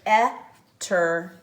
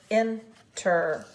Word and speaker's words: enter: When you say it, it's not an etter, it's an enter, even though it's spelled E-N-T-E-R.